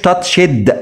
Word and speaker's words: touched: فعل منتظم، لكن هنا الاي والدي نطقهم زي الصوت ت ت مش touched لا touched، touch يلمس touched لمسة، use